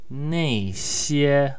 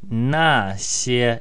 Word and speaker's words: 那些: This brief video explains the word 那些, also pronounced 那些.